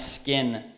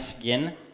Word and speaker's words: skin: So it should be pronounced sky and skin, not sky and skin. This is really difficult for people who aren't native speakers. because it's so hard, because it's in between like a G and a K. But I think if you say sky and skin, if you pronounce it like a real hard G, it's better.